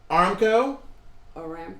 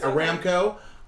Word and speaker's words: Aramco: no and miss April did a video on Armco Aramco sorry I mispronounced that Aramco on patreon very interesting discussion about the IPO